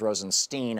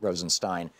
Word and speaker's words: Rosenstein: Rosenstein and who is whose name is always pronounced Rosenstein on the fox news network in right-wing hate radio but it's Rosenstein I think they're trying to make it sound